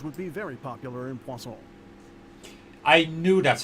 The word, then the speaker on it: Poisson: Speaking of that, I think magic shows would be very popular in Poisson. I knew that's how you actually pronounced it.